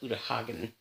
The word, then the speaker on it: Uta Hagen: And that's a quote by Uta Hagen.